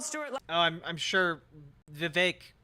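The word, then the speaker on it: Vivek: oh I'm I'm sure vake rhymes with cake is going to have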